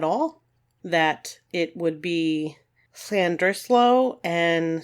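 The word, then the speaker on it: Llandrillo: looks like it's pronounced land drillo and Lander fell just so you know but apparently double L's in Welsh have almost an S sound to them so hopefully I'm doing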